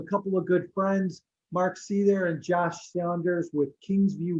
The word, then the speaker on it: Seither: It's pronounced Seither. I'm not faulting you for it because it's spelled incorrectly. It's actually my fault. It's an old German spelling, so it's Seither.